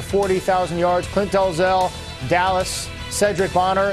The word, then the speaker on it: Sherdrick: Clint Dalzell, Dallas, Cedric Bonner. It's spelled Sherdrick, but it's pronounced Cedric.